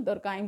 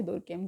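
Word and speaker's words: Durkheim: ठीक है, कल से हम एमएल दुर्काइम को शुरू करेंगे, दुर्केम जो भी आप प्रोनाउंसिएट करिए।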